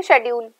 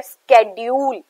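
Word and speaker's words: schedule: तो इसकी exact pronunciation की बात करूं तो ये है स्केड्यूल.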